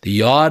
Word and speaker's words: Yod: The Yod it means the hand, okay? And it's pronounced with the yuh, the Yod.